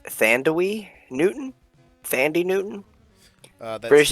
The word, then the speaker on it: Thandie: Thandie. Give it up Thandie for, Newton. Give it up for Tandy.